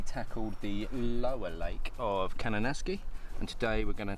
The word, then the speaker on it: Kananaskis: It's Kananaskis.